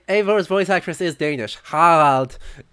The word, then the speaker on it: Harald: Left us with nothing when you pledged for King Harald. We took only That what was the we Danish deserved. pronunciation. Right, Eivor's voice actress is Danish. Harald instead of Harald. Or Old Norse Haraldur.